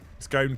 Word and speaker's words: scone: Take the S off the word snow, and how do you pronounce that? No. I am rejecting that argument, Pete. Scone cone. Done.